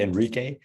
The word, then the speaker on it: Enrique: It's actually Enrique, but it's a Latino name. That's why, yeah, it's very hard to get it because you don't pronounce it. It doesn't sound as you write it, I guess.